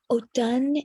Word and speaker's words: automne: Automne is also a little bizarre because the M is there, but it's not pronounced.